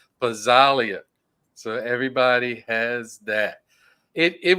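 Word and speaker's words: Pazzaglia: Everybody is getting Lorenzo Pazzalia. I gotta get that right because I always want to pronounce the G. Pazzalia.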